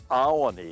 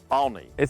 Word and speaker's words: Olney: Now you said Olney. It's really Olney. It's like Acme and two syllable. Yeah, it's Acme. very similar to Acme.